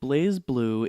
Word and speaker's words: BlazBlue: be la z-bo ue but that would be Blas not blaze but they pronounce it blaze so I'm going with